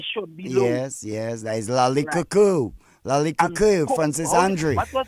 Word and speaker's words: Lakou: Lakou.